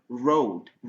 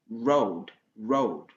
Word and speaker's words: road: C'est-à-dire la langue, vous devez courber votre langue un peu. Voilà. Si vous courbez la langue, vous allez bien prononcer ce son-là. Road. Donc la langue doit retourner en arrière, pas vers le devant. C'est pas road. Road comme en arabe ou bien dans nos langues africaines.